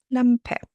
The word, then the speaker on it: Lampe: Yes, we do pronounce an e at the end as an e. Lampe meaning lamp obviously mik